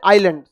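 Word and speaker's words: island: द्वीप इंग्लिश में कहते हैं आइलैंड, इंग्लिश हिंदी दोनों आपको समझ में आएगा, आप समझिए। आइलैंड जो होता है, आइसलैंड लिखते हैं लेकिन आई क्या रहता है, साइलेंट।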